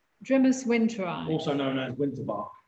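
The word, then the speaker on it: Drimys winteri: How do you pronounce it? Grimace Winteri. Grimace Winteri.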